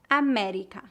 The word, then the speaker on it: América: Pronúncia aberta. Pé, pé. médico, médico. América, América.